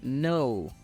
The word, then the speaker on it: no: tenemos la palabra no no tiene exactamente el mismo sonido que en español y el mismo significado algunas personas de habla inglesa pueden decirlo como una pequeña u al final no también está bien no te preocupes por